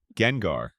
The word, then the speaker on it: Gengar: Gengar, pronounced like the first syllable of that word.